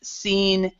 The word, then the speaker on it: scene: of times with SC, words with SC, like for example, a science, a scene, we actually do not pronounce the C, or we don't pronounce the S, whichever one you want to say.